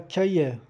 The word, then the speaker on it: cahiers: 3 cahiers, un cahier, le cahier. O S do plural não se pronuncia nemo R. 3 cahiers. É tipo um som E fechado, tipo accent aigudo.